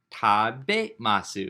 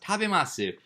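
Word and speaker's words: 食べます: Tabemasu is how it's pronounced. Tabemasu.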